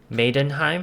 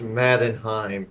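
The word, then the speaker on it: Mannheim: in its full Glory maiden and I'm saying that correctly it's pronounced Maden Heim not Maiden okay madim right yes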